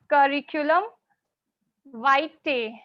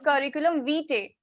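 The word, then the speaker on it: curriculum vitae: form of CV is curriculum white people tends to mispronounce this word they they pronounce this word curriculum v no this is wrong according to IPA it is curriculum white okay yes so today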